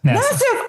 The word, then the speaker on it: Nassief: how to pronounce his name, but I said Nassief. Close enough. How do you say your name? It's Nassief. Nassief.